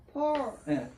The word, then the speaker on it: force: 힘 예 forse force 정확한 발음은 f는 윈니로 아래니수를 살짝 물고 푸를 발음하는 거예요. 포스가 아니라 따라서 하세요.